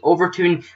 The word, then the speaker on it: Overtoun: It is in Scotland, and it is the Overtoun Bridge, is actually how I pronounce it. I don't think people always pronounce it right, but yeah, located near